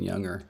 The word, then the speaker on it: younger: It's because I'm American that I don't pronounce the G in younger.